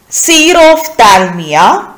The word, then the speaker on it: xerophthalmia: So in this module, we are going to discuss about these disease and disorders related to eyes: cataract, night blindness, xerophthalmia. How will you pronounce?